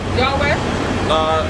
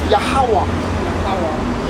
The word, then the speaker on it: Yahawashi: It's not Yahweh? Huh? Yahweh? The name of our father is Yahawashi. Yahweh. So we're just pronouncing it wrong. Because of the Greek influence.